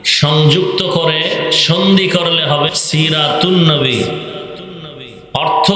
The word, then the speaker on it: সিরাতুন্নবী: মিলাদুন্নবী আলিফ লাম লেখায় আসবে পড়ায় আসবে না সিরাতুন্নবী যেমন বাংলাতেও দুই শব্দ সন্ধি হলে অক্ষর লেখায় আসে অনেক সময় উচ্চারণে আসে না যেমন বিদ্যা একটা শব্দ আলো